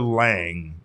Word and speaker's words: Lange: One of those names is Detroit Tigers right-handed pitcher Alex Lange. Is it Lange or Lang? Just Lange. I believe it's just Lang.